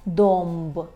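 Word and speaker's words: dąb: Вимовляємо її як ом, наприклад, у слові зомб, зомб, зуб, або домб, домб, так? Дуб. Чому вимовляємо ом? Бо далі йде буква Б і буква П. А в позиції перед Б і П у нас є звук ом.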